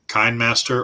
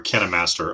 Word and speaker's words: KineMaster: you use keith uh it's k-i-n-e master so it's like kind master or kena master i've heard it pronounced both ways um i haven't